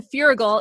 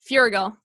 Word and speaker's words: Feuerriegel: The wonderful, super talented Dan Feuerriegel is here, and I know I pronounced that right.